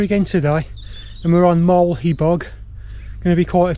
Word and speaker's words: Moel Hebog: And we're on Mulaghabeg. Going to be quite a trek this is. So, there it is, Mulaghabeg. It's actually Moyle A Bog is the correct pronunciation, isn't it?